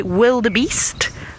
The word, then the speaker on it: wildebeest: And wildebeest is not spelled with a V, it's spelled with a W. So I say wildebeest, or you can call them a wild beast.